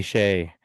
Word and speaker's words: Shay: Her name rhymes with hey. And it's actually Shay.